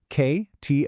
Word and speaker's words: kto: Our first block is kto. It's pronounced just like it looks. K to o.